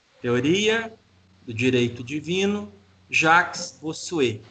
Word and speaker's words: Bossuet: Teoria do direito divino, Jacques Bossuet. Se escreve Bossuet, né? 2 S e T mudo no final.